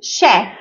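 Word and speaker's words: chef: لكن الاعم تش طيب في حاجات بنطقها ش يعني مع اني بكتبها سي اتش بس بنطقها ش زي ايه زي كلمه شاف شاف شاف وكمان كلمه ماكينه ماشين ماشين ماشين طبعا الكلمات دي بتبقى اصولها فرنسيه علشان كده بتبقى مش نفس القاعده بتاعتنا اوكي طيب تمام نركز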